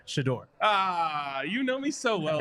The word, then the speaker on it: Shedeur: But Shedeur is pronounced Shedeur no matter language.